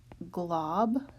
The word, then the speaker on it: globular: And globular is pronounced globular.